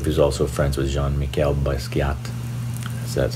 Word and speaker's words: Basquiat: very basic leaf who's also friends with jean-michel Basquiat that's how you say it let me know